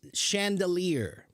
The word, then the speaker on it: chandelier: Arwa, the word you're trying to pronounce is chandelier. Chandelier is a word that comes from French. It actually comes from the French word for candles, because what is a chandelier?